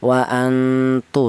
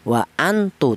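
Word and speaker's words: وَأَنْتُمْ: Cara bacanya nun mati ini disamarkan. wa antu seperti itu. Tidak boleh nun mati ini dibaca izhar. Apa artinya izhar? Izhar itu artinya jelas, tidak boleh dibaca wa antu. Tidak boleh.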